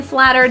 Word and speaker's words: flattered: The T in flattered is a flap T, pronounced as a quick D.